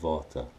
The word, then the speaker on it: Vater: I think I check the thing on their pronounces it so I'm puller of Vata and that is the spot guaranteed digestive system